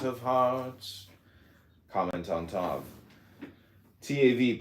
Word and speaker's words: Tav: TAV pronounced Tav transcribed as TH the number 400 meaning mark across the administrative intelligence is the final letter of the Hebrew alphabet.